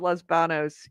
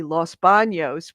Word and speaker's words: Los Baños: So yes, the reason why Los Banos, which we pronounce it Los Banos in California, but it's actually the name is originally Los Baños, was because it was